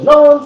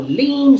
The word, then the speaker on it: ln: Some people call loan, some people call lean. So it sort of depends how you pronounce based on your language or your tongue.